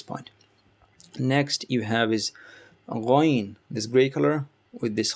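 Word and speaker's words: غين: Next you have is ghain, this gray color with this kha. Kha was pronounced from the bottom of your throat. Kha, same thing. Ghain is coming from the same place. Ghain, ghain.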